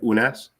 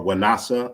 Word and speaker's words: Unas: So we could look at this pyramid of Unas, or Wanasa. I'm proposing Wanasa as the pronunciation.